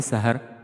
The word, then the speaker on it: سحر: طرح سے لفظ سحر، اس کو سین کی زبر کے ساتھ پڑھیں گے سحر۔ اس کے بعد ہے